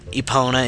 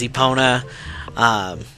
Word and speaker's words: Epona: I usually pronounce it just Russell. Epona is Epona.